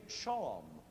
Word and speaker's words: shawm: And then finally, in good old British style, it became shawm, and was even spelled that way, S-H-A-W-M.